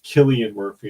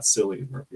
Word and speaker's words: Cillian Murphy: Apparently, I'm pronouncing his name wrong. Apparently, it's Cillian Murphy and not Cillian Murphy.